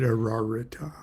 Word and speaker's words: Ararita: under the presidency of the Sephath and the sevenletter name Ararita or Ararita. I pronounce it Aarita.